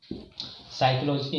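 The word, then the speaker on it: psychology: साइकोलॉजी है तो यहाँ पर देखें, यहाँ पर साइकोलॉजी तो यहाँ पर पी साइलेंट हो गया है।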